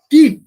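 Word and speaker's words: qi: कह रहे हैं या ची कह रहे हैं, क्यू आई जिसको बोलते हैं, क्यू आई माने ची भी हो सकता है और की भी, प्रोनाउंसिएशन की भी करते हैं, ची भी करते हैं।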